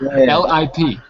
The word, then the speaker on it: lip: backward word P okay the I is an i Lip lip lip and pill pill yeah that's it it's a uh almost a uh sound okay so lip pill lip pill lip pill good that's much better because I was hearing you say e like peel okay long you got